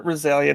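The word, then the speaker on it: Rhyzalia: uh Roselia I'm gonna name him her Roselia now because that sounds cooler as soon I like it's a pretty name it's a good as soon it's true that's why I recognize it um it's spelled RH y z a l i a though soili you're spelled RH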